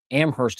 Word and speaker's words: Amherst: Amherst in Lorain County, yeah.